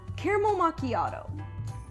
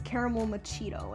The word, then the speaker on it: macchiato: i like this one caramel macchiato i had a kid that pronounced this as caramel machido and i thought it